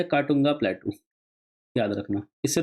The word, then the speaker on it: Katunga: ये है काटूंगा प्लेटू, याद रखना। इससे 2 नदी निकलती है, एक नदी इसके बाद आएगी, काटूंगा, KATUNGA, काटूंगा प्लेट्यू, ठीक है?